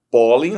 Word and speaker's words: pólen: Pólen, a sílaba tônica está no pó.